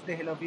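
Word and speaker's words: دہلی: দেহলভি না, এটা তো দিল্লির অনুসারে দেহলভি, কিন্তু যখন আপনি উচ্চারণ করবেন তখন কি হবে?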